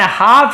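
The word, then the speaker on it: half: एंड हाफ used bottle of perfume, हाफ L silent होता है, हाफ used, आधा उपयोग किया हुआ परफ्यूम, इत्र का बॉटल था।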